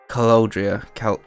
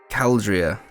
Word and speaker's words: Caldria: Vale Caloudria. Fucking... Why do I put extra E's in there? Caldria.